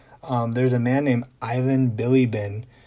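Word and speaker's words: Bilibin: a man named ivan billy bin that last name is spelled b-i-l-i-b-i-n and he did the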